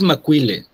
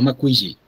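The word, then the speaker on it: macuilli: De hecho, es Mauile, no Maquilli. Mauile. Macile. Mauile, no. La doble l no suena como el nawat.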